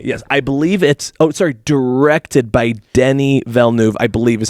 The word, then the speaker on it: Denis Villeneuve: Okay, yes, I believe directed by Denis Villeneuve, I believe is how you pronounce it.